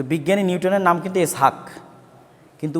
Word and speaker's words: ইসহাক: যে বিজ্ঞানী নিউটন তো বিজ্ঞানী নিউটনের নাম কিন্তু ইসহাক কিন্তু উচ্চারণ করা হয় ইংরেজিতে কি আইজ্যাক কিন্তু আসলে কি ইসহাক ইসহাকের ইংরেজি ভার্সন হচ্ছে